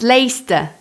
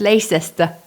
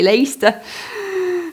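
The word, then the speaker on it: Leicester: Why do they spell a word with so many letters only to pronounce half of them?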